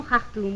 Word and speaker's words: Khartoum: Nous disons Khartoum, oui, on prononce le Kha.